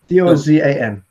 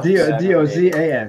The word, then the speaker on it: Dozan: Dozin, Dozan. It's like dozen, but you don't pronounce it that way. Okay. With an A. I'm gonna put an A there. Yeah, Dozan.